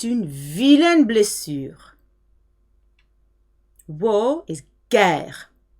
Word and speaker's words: guerre: G followed by E or I. E and I soften the G. So to get a hard G with an E and an I, they have to insert a U. So guerre is spelled G-U-E-R-R-E. Otherwise it would be a soft G.